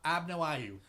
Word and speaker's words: Abnauayu: Abna- Abnayu. Okay. So, the Zana story I don't think is real. 100%. Let me just throw that out. You don't think she's an Abnayu?